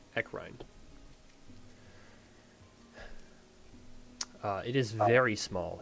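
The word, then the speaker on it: Ecrine: town and as you approach the town of ekin echine sorry I pronounced it wrong echine uh it is very small it is basically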